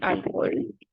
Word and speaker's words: alcohol: Okay, so the next one will be alcohol. Alcohol. It's not alcohol, it's alcohol.